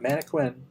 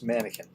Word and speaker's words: mannequin: But a lot of pretty much all the words that have a quu in the middle of them pronounce it with a k sound like mannequin. It's not manquin, it's mannequin.